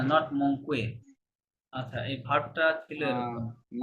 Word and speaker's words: manquent: মঙ্কে, না না না, আমি বলেছি হয়তো কিউ এর পরে যদি ইউ মঙ্কে। থাকে, হ্যাঁ, কিউ এর পরে ইউ থাকলে এটা নরমালি কি থাকবে? সাইলেন্ট থাকবে, ঠিক আছে? যেমন ও।